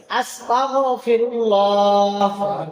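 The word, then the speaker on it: أستغفر الله: সকলে বলেন আস্তাগফিরুল্লাহ। আমার উচ্চারণটা আপনারা খেয়াল করেন। আস্তাগফিরুল্লাহ।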